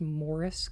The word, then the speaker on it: Maurice: Maurice crazy old Maurice will we pronounced Morris because they're British really huh huh